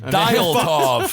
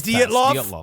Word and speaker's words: Dyatlov: I think it's Dyatlov. I thought it was Oh my God. Dialtov. We're fucked. But this is the lead mass. It's Dyatlov. Dyatlov. It's Dyatlov?